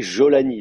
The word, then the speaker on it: Jolani: Syrie jolani on dit jolani là donc prononcé j très très doux comme ça vous allez en Égypte